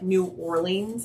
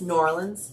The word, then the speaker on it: New Orleans: in Rhode Island and that's how they say it it's not Rhode Island it's Rhode Island like New Orleans it it's New Orleans not New Orleans okay now that we've